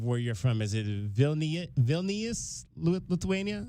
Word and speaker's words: Vilnius: All right, I ask all of the international students these two questions, and help me if I'm mispronouncing the name of where you're from. Is it Vilnius, Lithuania? Vilnius?